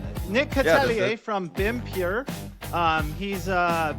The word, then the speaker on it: Catellier: In this episode of Revex Live, we're going to be here with Nick Catalier. Is that how you pronounce it? Yeah. Yeah, that's good. That's good. Nick Catalier from BIMPure.